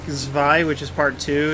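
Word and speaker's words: Zwei: A lot of people really like Zvi, which is part two. It's spelled Z-W-E-I.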